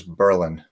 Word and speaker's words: Berlin: town of Berlin prefers Berlin. That's just my comment. I thought it was worth saying. It's pronounced Berlin with the accent on the first syllable?